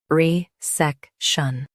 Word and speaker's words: resection: Both US and UK have the same pronunciation of this word, RESECTION. Now read the syllables shown on the screen naturally. Re, sec, shun, RESECTION. Stress SEK and keep R soft.